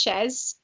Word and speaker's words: Chez: your name so it's it's pronounced chess chess okay so kane um yeah a lot of people mix that up they think it's like the french way shaking um yeah so